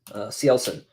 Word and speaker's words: Cielson: How do I pronounce Cielson? Cielson is how I say it.